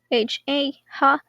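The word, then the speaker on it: は: It's also written ha, ha, but when you use it as the topic marker, it is pronounced wa.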